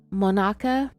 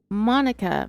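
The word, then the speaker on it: Monaca: young patrolman with the Mona I'm going to check pronunciation on that one real quick yep I was wrong it's Monica Pennsylvania Monica Police Department in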